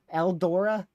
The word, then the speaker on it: Eldora: Oh my word, I need to say El Dorado. That's just what I think is the pronunciation, but it's not. It says Eldora.